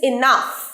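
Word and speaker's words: enough: একবারে যথেষ্ট one's is এনাফস ইজ এনাফ এর এনাফ শব্দের অর্থ যথেষ্ট এনাফ এনাফ নয় এনাফ ওয়ানস ইজ এনাফ এটার সঠিক প্রোনাউন্সিয়েশন এনাফ এনাফ কিভাবে হাউ কাম হাউ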